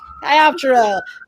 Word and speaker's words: Chiroptera: Chiroptera, which is pronounced correctly. You heard it here first from the creators of the book. Chiroptera.